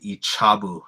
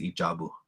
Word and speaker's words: Ijabu: And I remember I was saying like Ichabu, and it's not Ichabu, it's Ijabu for drumstick.